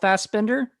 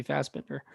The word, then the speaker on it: Fassbender: And then Michael Fassbender. I want to say that's how you say his name. Yeah, it's got to be Fassbender.